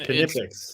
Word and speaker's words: Knipex: Yeah, like in German, Knipex.